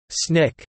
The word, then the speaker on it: SNCC: At this meeting, the Student Nonviolent Coordinating Committee (SNCC), pronounced SNCC, was formed.